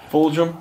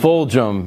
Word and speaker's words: Fulghum: last name I'm sorry fum it's like it sounds like it's a j but it's actually a g but yeah F fum and people call me